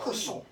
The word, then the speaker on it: croissant: Okay, so there's Why is nothing croissant there. spelled with an R and a T, but both of them are silent?